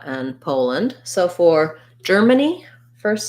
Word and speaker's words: Poland: the uh sound russia and lastly poland we have first syllable strass we have a true o vowel there so it's just like the word pole or this word pole make sure you do a nice clear long o sound and then rather than